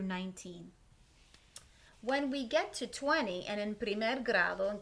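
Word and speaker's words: veinte: Vamos a pronunciar, we're going to pronounce the V here with like a little B sound, like a soft letter B.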